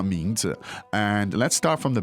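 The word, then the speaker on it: 名字: So it's second and neutral tone.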